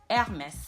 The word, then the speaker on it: Hermès: in French it is Hermès. In French, the H is a silent letter whenever it's in front in the beginning of a word. So you don't pronounce it.